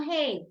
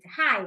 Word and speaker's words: height: some pronunciation details right height no hate height when you talk about